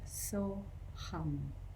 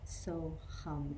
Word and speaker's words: So-Ham: The mantra today is 2 syllables, So-Ham. So-Ham, S-O-H-A-M. And that's a shortened version of the Sanskrit words Sa-Aham.